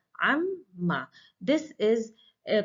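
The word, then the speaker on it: عمّ: The moment the noon is deleted, the sound of noon is merged with meme, and that's why there is a two memes pronounced here, amma.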